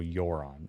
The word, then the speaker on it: Yoron: So it rhymes with moron. So Yoron.